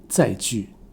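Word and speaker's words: 载具: 说一下，正确的发音本来是载具，但是积非成是，在台湾几乎所有人现在都读成第三声载具。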